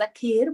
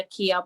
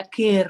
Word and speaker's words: Akeer: And so Akeer, but my name is actually pronounced Akeer, but they call me Akeer because they just can't say Akeer with the rolling the R.